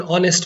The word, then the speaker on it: honest: old school holds good with uh honest he is an honest man so here we use and because hex sound is silent here the word here starts with o so i'll be sharing